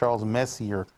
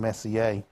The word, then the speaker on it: Messier: I pronounced Charles Messier for about the first 30 years of my life until I figured out it was French and Messier.